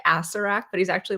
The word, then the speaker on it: Acererak: Yeah, I pronounce it wrong every single time because I leave out the second set of ERs yeah, in the middle, and so I wanna yeah, call him, like, Acererak, but he's actually, like, a Sarah, and I'm like, yeah, yeah.